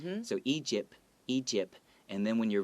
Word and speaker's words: Egypt: Another thing I want to note is the word Egypt might be hard for some people to pronounce because there's a P and a T next to each other.